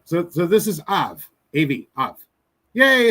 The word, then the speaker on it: Av: All right, so this is Av, A-V, Av. Yay! It's alive again. All right, Av, from Aleph and Bet. Bet with the V sound.